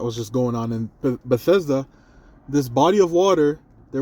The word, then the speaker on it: Bethesda: You know, there's a there's a body of water in Bethesda. Oh, that's how you say it. Bethesda.